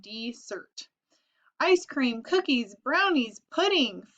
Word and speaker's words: Desert: is on an island called Mount Desert she pronounced it dessert ice cream cookies brownies